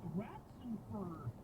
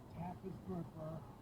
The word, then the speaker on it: Raffensperger: I don't think he ever gets beyond 3 syllables, right? Ratzenfur, or Rats the Fur, is the closest I think he ever gets. Raffensperger.